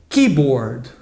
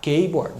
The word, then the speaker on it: keyboard: E um outro exemplo aqui, o teclado, né, que é a palavra keyboard. A tendência do brasileiro é falar keyboard, nada disso. Então, é keyboard.